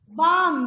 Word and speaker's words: balm: BAM, Bam, balm, very good. bam, If your, what is this? calf Calf. cough, अब cough, L silent है, बाम में L silent है, काफ में L silent है।